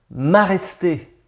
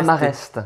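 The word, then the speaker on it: Maraiste: Donc c'est maresté, pas mareste. Mareste, ça veut rien dire.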